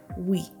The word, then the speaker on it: Huy: Halfway there, you will hit a town called Wii, pronounced a bit like we for the cycling nerds.